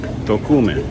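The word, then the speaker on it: Tocumen: So, I officially asked how to pronounce the name of this arrow porto as token. Tokman.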